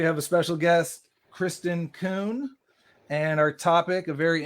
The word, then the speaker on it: Kuhn: And just for the records, my last name is pronounced Kuhn.